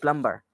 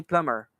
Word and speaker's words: plumber: pronounce it like plumber it's not plumber the right pronunciation is actually plumber there's no sound in it plumber that's the pronunciation pronunciation is so that's